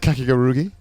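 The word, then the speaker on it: Kakegurui: Did you watch Kakigarugi? Is that how you No, pronounce I it? did not. Oh, fucking Kakiguru. Kakigarugi. How the fuck you pronounce it? Is that right? Kakeguru.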